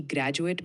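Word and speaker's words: graduate: ग्रेजुएट from science college ध्यान दे कि ग्रेजुएट में ग्रा पर जोर होता है और कॉलेज का उच्चारण कॉलेज की तरह होता है माय नेम इज चिराग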